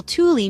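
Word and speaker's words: tuuli: of a word word for example the word Tuli means fire while Tuli means wind see how a small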